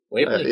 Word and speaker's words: Whately: It is pronounced Whately, right? Whately. Whately? Whately. Long A.